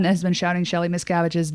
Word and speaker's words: Miscavige: Miscavige? Yeah, Shelley Miscavige.